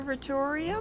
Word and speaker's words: Observatorium: The German word observatorium is pronounced similar to the English word observatory.